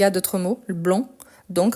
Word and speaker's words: blanc: a d'autres mots le blanc donc le C même s'il n'est pas prononcé c'est la marque du masculin le bec ou donc